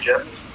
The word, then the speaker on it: Geoff: Jeff. Yep. I'm going to pull up Mommy Gee. It's spelled Geoff.